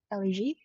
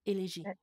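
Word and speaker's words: élégie: And every time that I hear an elegie, is it how you say it in French? Elegie, yeah.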